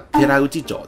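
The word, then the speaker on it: 寺内町: 豊中市、であれば寺内町です。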